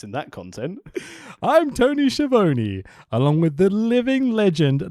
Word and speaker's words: Schiavone: Because that's how he says it. He knows how to say his name. He's got confidence in that content. I'm Tony Schiavone, along with the living legend Larry Zbyszko's here, boys.